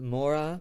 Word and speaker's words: mora: spot next we have mora morai this word i remember because it rhymes with hora hora means our and